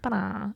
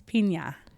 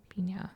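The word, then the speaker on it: Peña: Penna. I think that's how you say it. Ba-da. I don't really know. Again, I've never heard of your people. It's Pina. Pina. Chance Pina. Pina. Like piñata.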